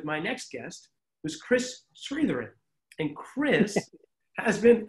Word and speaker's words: Chris Sritharan: by side with my next guest who's chris sritharin and chris has been not bad huh i pronounced it pretty well i've been pronouncing it